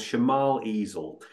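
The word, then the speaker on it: Cemal Ezel: He's a youngish lad called Shemal Ezel, and that's spelled C-E-M-A-L.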